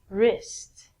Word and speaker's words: wrist: Pronunciation is the same as this. Again, we don't say the W. And last one, wrist.